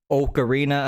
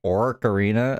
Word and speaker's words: Ocarina: It's not Ocarina of Time. I've been calling Orcarina of Time my whole life until I read it and I was like, "Wait a second. That's not how you say it."